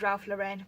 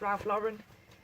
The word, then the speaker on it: Ralph Lauren: it top size Excel I always thought it was Ralph Lorraine but people complain and say it's Ralph Lauren it's a really long